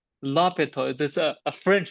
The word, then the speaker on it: l'Hôpital: It's l'hôpital, because in French, they often silent H.